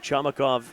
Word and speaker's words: Chamakov: Well, we got a pronunciation clarification on George Chamakov at halftime when he came on. They said it rhymes with tomahawk, and that was a tomahawk chop right there of a tackle.